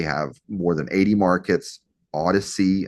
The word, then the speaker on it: Odyssey: Odyssey, I think that's how you say it. Odyssey, not Audacity. Audacity is a software platform, but Odyssey is big.